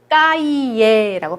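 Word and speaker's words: cahier: 자, 요거는 발음 어떻게 할까요? 자, 세 다음에 아가 나왔죠? 그 다음에 아쉬 발음 안 하죠? 이렇게 되어 있는 거 까이예라고 발음하시면 돼요.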